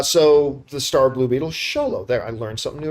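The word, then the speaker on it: Xolo: the way I learned I've been pronouncing uh zolo's name yeah probably it's cholo uh so the star Blue Beetle sholo there I learned something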